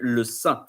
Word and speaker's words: saint: And so, because in French could be translated by le saint, but you don't pronounce the T at the end.